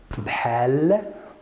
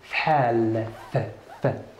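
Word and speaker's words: بحال: Bhali, bhal, please try to b-ha-ha, like the one in Muhammad.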